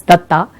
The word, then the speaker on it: Datta: ਐਂਡ that Data, I'm sorry to pronounce his Data, it's Datta, helplessly looked at the venerable